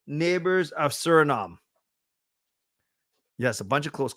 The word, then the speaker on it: Suriname: So not surname, Suriname. Okay, friends, we got Suriname. Good job. We are sneaking out. We're sweating here. So 3 neighbors of Suriname.